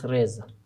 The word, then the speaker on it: Reza: é re reai mas pode me chamar de reza ou she reza na pronúncia portuguesa né e ele vai ser